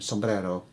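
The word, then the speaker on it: sumbrero: you can see here the Spanish spelling Sombrero s-o-m is different to the Tagalog spelling with s-u-m but pronounced the same sombrero another one that's pronounced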